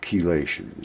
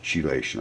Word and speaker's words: chelation: blood as a process called chelation spelled with ch chelation I call it surrounded